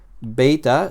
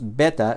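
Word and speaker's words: βῆτα: Fíjate que aquí hay una pequeña marca encima de la letra E, y esto es para indicar que esta vocal E aquí se debe pronunciar como una vocal larga. No es beta, sino beta, ¿vale? Esta E larga la vamos a pronunciar como el diptongo E que aparece en la palabra, por ejemplo, reino, ¿vale?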